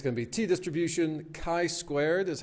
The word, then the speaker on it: chi-squared: But that's why it's going to be t-distribution, chi-squared is how that's pronounced, and f-distributions, an overview.